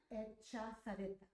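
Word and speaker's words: Echazarreta: Uh, Katya Zareta. Sareta.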